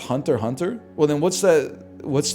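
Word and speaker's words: Hunter × Hunter: I I've been calling it Hunter X Hunter for years, man. It's pronounced Hunter Hunter.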